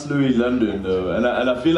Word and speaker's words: Loui Lvndn: name changed do yeah yeah no now it's Louis London though and and I feel like I should